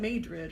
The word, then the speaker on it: New Madrid: New Madrid, I think. Yeah. And I've heard somebody call it Madrid or something like that, like a southern pronunciation.